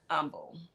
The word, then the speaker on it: Humble: Y'all the H is silent.